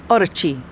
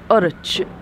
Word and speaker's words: Orochi: That's our experience with the Mitsuoka Orochi. Orochi. You're not meant to pronounce the last bit. Orochi.